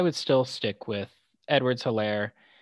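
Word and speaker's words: Edwards-Helaire: still stick with edward solaire edwards e lair i guess it's pronounced um and uh and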